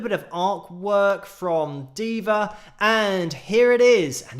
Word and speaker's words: Deva: pegasus supporters group and i'm not sure if i've had clarification yet if it is diva but that is what i'm calling diva even though it's spelled d-e-v-a so it could be deva but i'm gonna say diva just because it sounds a little bit more cool in